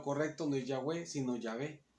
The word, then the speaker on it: Yahvé: y todo de que la pronunciación correcta, la más probable, perdón, que es Yahvé, como uno dice Yahvé, Yahvé, es de ahí donde se saca la pronunciación Yahvé.